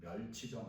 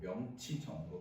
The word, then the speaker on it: 명치정: 마을 이름을 어떻게 바꾸냐면 명치정으로 바뀝니다. 멸치정 아니고 명치정으로 바꿉니다.